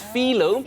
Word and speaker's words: phyllo: i was corrected it's phyllo because apparently that's how the greeks pronounce it and everything started but